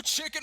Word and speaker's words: CHKN: of you that are also wondering it is pronounced chicken C hkn so uh being the intern you